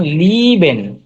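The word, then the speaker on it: lieben: ই, ই এ, ই এ, হ্যাঁ ই এ, এটা হচ্ছে ই এর মতো উচ্চারণ হয়। যেমন লিবেন, ই লিবেন। এ মিলে হচ্ছে রস্যইর মতো উচ্চারণ হয়। লিবেন, এই যে ই এ, হুম। লি- লিবেন। লিবেন।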